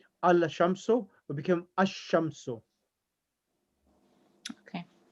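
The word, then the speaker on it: الشام: is after the lamb like allah will become asham okay pronounced in asham it was al sham so big becomes asham so so there's a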